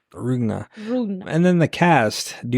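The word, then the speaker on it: Demián Rugna: So Demian Rugna is how you say his name? Demian Rugna. Rugna.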